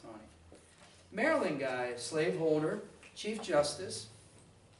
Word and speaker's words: Taney: Looks like Taney, pronounced Taney.